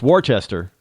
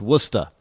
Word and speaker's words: Worcester: w RS how they pronounce is W it's Worchester but it's pronounced wer not even Worcester it's pronounced wora so if you're looking for w s ah